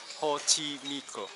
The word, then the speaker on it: Xochimilco: Yes, it's pronounced Xochimilco.